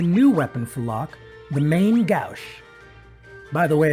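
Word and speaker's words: main-gauche: When we get into Mount Colts, we find a new weapon for Locke, the main Gouche. By the way, as a kid I pronounced this the main Gooch.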